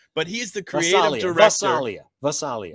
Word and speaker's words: Gvasalia: Vasalia. The G will be silent. The G is Vasalia.